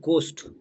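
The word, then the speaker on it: ghost: ঠিক তেমনি আমরা এটাকে ঘোস্ট পড়ি, কিন্তু ঘোস্ট নয়, এটা গোস্ট, এখানে এইচ কিন্তু উচ্চারণ হয়নি।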